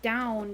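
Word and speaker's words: donn: i was wondering because the way you spelled it in gaelic would be pronounced down but it's just the word for brown so i was going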